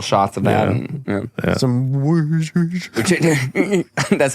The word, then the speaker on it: Worcestershire: Now, I hear tell that the correct way to pronounce it is Worcestershire. Oh, No way. Isn't that Actually, wild? I've heard this. Ain't that a bitch? Say it again. Worcestershire.